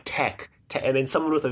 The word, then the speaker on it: Tech: It's supposed to be tech, which is short for technicians. I'm not sure how tech turned into Tesh, but well, you know, whatever. C can make a hard C or a soft C, and if you make it a soft C, then it becomes Tesh.